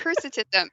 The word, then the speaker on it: hirsutism: Hirsutism.